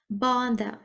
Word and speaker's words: bother: Bother. Або bother. Британці вимовляють через О, американці через А.